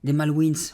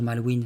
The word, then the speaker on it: Malwins: Voilà, j'aurais dû dire Malwin, c'est parce que ça finit par un s. Donc W I N S. Donc je me suis dit encore une fois, pourquoi mettre une lettre si on la prononce pas ?